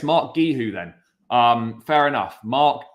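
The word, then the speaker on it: Marc Guiu: to the kid gueho Mark gueho okay it's Mark gu who then um fair enough Mark gu who um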